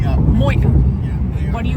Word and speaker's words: Moyock: We were Moyock. Moyock. Yeah, Moyock.